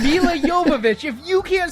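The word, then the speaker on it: Milla Jovovich: the commentary where Michelle Rodriguez kept calling her Mila Jovovich and she'd get so mad. It's Mila Yovich. If you can't say it right, no one will be able to say it right. Mila Yovich.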